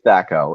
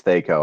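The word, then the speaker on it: THAC0: And just, or is it Thaco? Some people I've heard pronounce it Thaco. It's Thaco. Anyone tells you it's Thaco, I don't know what they're talking about.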